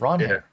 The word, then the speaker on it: Ranger: We got uh Ron Her Suárez. By the way, I learned this from Nick. It's Ron Her.